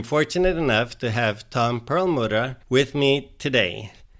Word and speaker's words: Perlmutter: I'm saying that in the German way actually your last name. How do you say it in the English way? In the English way it would be pearl mutter and in French it becomes so it depends on which language and I personally am originally Hungarian.